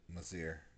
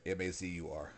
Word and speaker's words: Mazur: How I'm sorry, lady Marat, what was her name? Mazir. Mazir. Am I saying it right? Yeah. Okay. How Lady Mazir, because I'm assuming she knows about her and how she Mazir. lost her family. Mazir. I'm sorry. Mazur. I'm so sorry.